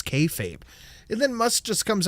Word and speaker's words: kayfabe: Then they got into a bromance spat that I am not unconvinced is kayfabe by the way. Thank you. Right. I thought about it's kfabe as well cuz I was going to ask Polly before the show what it is.